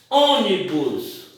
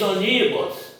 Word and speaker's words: ônibus: Aqui no caso, ônibus. Se nós fôssemos separar, ficaria assim, ó. Ônibus. Qual é a sílaba forte? Você diz ônibus? Você diz ônibus?